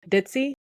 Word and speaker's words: Dit: for Elizabeth, which is Dit. Like Ditzy? Yeah, like Ditzy, D-I-T, Dit. It's basically because I think